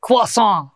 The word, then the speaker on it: croissant: uh things like that I believe it's pronounced quason quas those uh of course